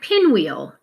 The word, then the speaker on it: pinwheel: Pin is a closed syllable, short vowel sound. Wheel right here is going to be a WH. So you may have missed that H. Now you know this is a long E sound for our vowel team. We're going to use a double E in the word pinwheel, and then we're going